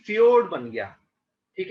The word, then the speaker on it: फ्योर्ड: समुंदर के साथ मिला होगा तो हम कहेंगे ये फ्योर्ड बन गया, ठीक है? ये फ्योर्ड है, ये जे साइलेंट है इसमें, ये एक नॉर्वेजियन शब्द है, ठीक है?